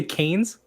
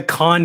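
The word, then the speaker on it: Cannes: did you guys say canes how do you it's canvas isn't it i believe i thought it's like the con film festival i'm pretty sure like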